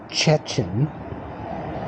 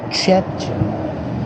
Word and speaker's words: Szczecin: Um So, I stayed at the travel house um here in Szczecin. Szczecin My wife kept trying to explain to me and show me how to pronounce it with the uh s z c z.